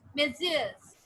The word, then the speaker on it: messieurs: We pronounce it as messieurs.